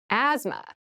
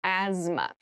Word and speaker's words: asthma: cavity deep cavity asthma asthma Asma so this word has very interesting spelling there's a th in the middle but we don't say asthma we say Asma so kind of ignore